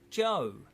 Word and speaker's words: Cho: The anglicised Chinese family name Cho is actually pronounced Joe.